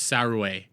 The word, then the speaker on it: Saruei: The name Saruei is likely pronounced Surua. Well, it's A, so she does have an A at the end of it, so it's Saruei.